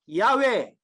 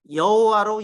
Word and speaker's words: 야훼: 오늘 50주년 기념 강연이니까 야훼 이거 봐요. 여호와로 읽으면 안 돼. 여호와라는 발음은 영어 발음도 아니고 히브리어 발음도 아니고 이거 무슨 발음인지 몰라.